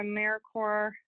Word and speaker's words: AmeriCorps: That's a joke, but please use the right pronunciation. AmeriCorps, it is not AmeriCorps or AmeriCorp.